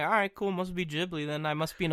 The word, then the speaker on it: Ghibli: Ghibli so I'm like alright cool must be Ghibli then I must be an uncultured swine and